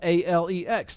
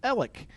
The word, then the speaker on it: Alec: hear it correctly i my first name is spelled a-l-e-x the world pronounces that alex my family pronounces it ellick i go by